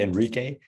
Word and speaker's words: Enrique: It's actually Enrique, but it's a Latino name. That's why, yeah, it's very hard to get it because you don't pronounce it. It doesn't sound as you write it, I guess.